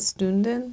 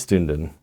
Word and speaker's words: Stünden: watching their videos and they were pronouncing it stunden like it is stunden oh it has the on top the German thing right the two dots on top Sten St yeah but